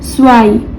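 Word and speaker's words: zwei: अब यहाँ जेड का प्रोनाउंसिएशन क्या होगा? सो होगा। क्यों? क्योंकि इसको जेड को बोलते हैं तोसेट, और तोसेट एट द एंड सो का साउंड आता है इसमें से, तो इसलिए स्वाई।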